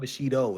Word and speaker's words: Bushido: with me today is Bushido, aka. He said it right. He pronounced Bushido right. I'm It's surprised. not Bushido.